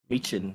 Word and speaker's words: Michin: Michin, yeah.